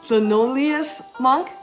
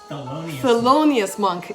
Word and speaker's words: Thelonious Monk: the genius amanda music uh leno linoleus monk thelonious monk is his name my husband is back